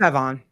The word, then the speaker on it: Sevon: She was like, no, I'm Savon did it. Is it Savon or how do you say it? Sevon. Sevon. So it's more emphasis on Sevon.